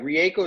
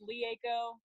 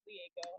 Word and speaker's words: Rieko: It's actually pronounced Lieko because it's Japanese. Lieko? Yeah, the R sounds like an L, but yeah, it's Lieko.